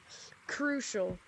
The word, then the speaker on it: Crushel: this is story this is short stories with crucial that's my name if you don't know how to pronounce it now you do um anyway uh